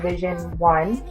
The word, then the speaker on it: Vision 111: So in September, I legalized my event planning / PR consulting company called Vision One, but it's spelled Vision 111 because those are my angel numbers.